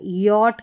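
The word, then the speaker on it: yacht: यहां पर सी एच जो है साइलेंट है। यहां पर देखिए इसका उच्चारण ये हो रहा है यट करके पढ़ रहे हैं।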